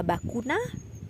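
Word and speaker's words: vacuna: Next ada bakuna, bakuna atau vaksin, bakuna. Kemudian ada balor, balor atau value kalau aku nggak salah. Jadi semuanya diucapkan konsonan V diucapkan seperti B.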